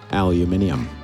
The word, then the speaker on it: aluminium: But Aluminum. Aluminium. Yeah. They really say it like that in Europe. Oh, yeah. And in some parts of Canada.